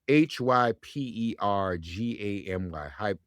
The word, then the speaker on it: hypergamy: I don't want to mispronounce it. H Y P E R G A M Y.